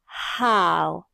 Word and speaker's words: how: Attention lorsque tu prononces ce mot interrogatif, tu dois faire le son et ensuite la lettre O se prononce OW. Donc lorsque tu associes les deux sons, tu obtiens how.